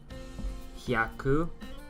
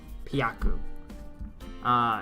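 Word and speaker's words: 百: We have 3 pronunciations for this, depending on how you want to do it. So I'll actually put it on the left side since I have so many, and they're all used a lot. And it's in katakana here, but it's usually in hiragana, by the way. Hyaku. Byaku. Pyaku. So all 3 are used depending on what number you're saying. Nihongo no good.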